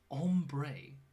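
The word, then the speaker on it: ombré: Um, ombre is how it's pronounced.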